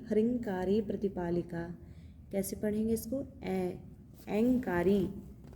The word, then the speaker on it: ऐंकारी: कैसे पढ़ेंगे इसको, ऐंकारी, अ पे अनुस्वार है, ऐंकारी, ऐंकारी।